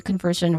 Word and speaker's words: conversion: That's how you try to, you know, um, math it or solve it, your conversion rate. Now, next to this is its pronunciation.